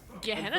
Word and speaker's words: Gehenna: We're at the Gehenna? for some That reason, sounds it's familiar. It's pronounced Jenna, actually.